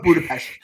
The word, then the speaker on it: Budapest: it budapest all right we're calling budapest budapest that's how the locals say when when in budapest